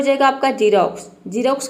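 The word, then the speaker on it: Xerox: तो देखिए जब वर्ड के शुरू में एक्स आता है तो वहाँ पे एक्स को हम ज प्रोनाउंस करते हैं, जैसे कि जीरोक्स। यहाँ पे देखिए एक्स शुरू में आया है तो एक्स का ज हो जाएगा, आई का हो जाएगा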